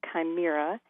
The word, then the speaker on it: chimera: Yeah, that's Chimera. I always thought that was chimera, but I didn't know how to pronounce it. Did you pronounce it chimera? I think so. Okay. But I certainly could be wrong. Okay, well, now everybody knows, even the people who pronounce it wrong. Now they all know, everybody knows what we're talking about. Chimera that's or right. chimera, either way.